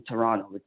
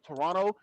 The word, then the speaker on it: Toronto: another area code in Toronto it's like cell phone providers yes a handful of towns been there a bunch of times don't the locals you can call it Toronto they don't pronounce the T it's like T Oro